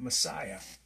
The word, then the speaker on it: Messiah: is a silent letter so there is no English S at the end of Messiah that's found in John